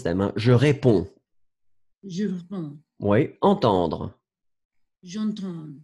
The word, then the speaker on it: réponds: Faites attention, DS, but you don't pronounce them. Hein. Je réponds.